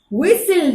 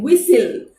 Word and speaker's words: whistle: w h i we whistle w h i s g l e already t reverend uh but the sound be silent the sound of t is silent whistle we still know we